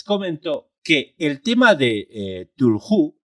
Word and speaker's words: Cthulhu: Es decir, no hay una regla de oro en la cual Tulhu se deba pronunciar Cthulhu o Tulu. No, cada uno que lo pronuncie como crea que se debe pronunciar. En mi caso, yo lo pronuncio Tulhu y perdonadme si algunos